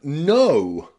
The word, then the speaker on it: know: we have the word no no this is a really interesting word in English because the K is silent which means that we